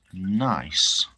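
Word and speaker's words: gneiss: Lewishian genus pronounced nice. Oh, Lewishian nice.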